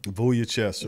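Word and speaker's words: Vučević: Vujicic.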